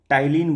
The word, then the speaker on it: ptyalin: उसमें जो salivary gland में जो एंजाइम पाया जाता है उसको टाइलिन बोलते हैं, PTYALIN। पी से होता है शुरुआत, लेकिन जैसे साइकोलॉजी में पी साइलेंट होता है उसी तरह से टाइलिन में भी पी साइलेंट होता है।